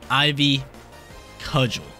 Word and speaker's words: Ivy Cudgel: Ivy, cudgel. I think that's how you pronounce it.